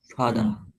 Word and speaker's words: father: British ইংলিশে স্যার আর উচ্চারণ হয় না, আর মতো হয়। উচ্চারণ হয় না আর। Father হবে father. হ্যাঁ, ফাদার, হাউস ইউ, এ আর উচ্চারণ, হাউস ইউ ফাদার।